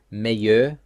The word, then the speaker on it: meilleur: Second example, meilleur accueillir. In the first word, E-I-L-L is a combination and is just pronounced A.